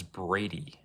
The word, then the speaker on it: Brady: My name is Brady, not Brody.